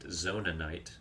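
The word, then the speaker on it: Zonaite: oh, we got some Zonite, first Zonite, which I think my dad pronounces it Zonanite. You know, to each their own.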